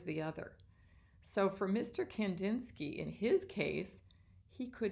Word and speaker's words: Kandinsky: Let's meet a guy named Wassily Kandinsky. Here's a picture of Wassily Kandinsky.